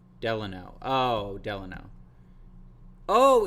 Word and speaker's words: Delano: Delano it's not delanor I thought it was delinor let me look that up I'm not gonna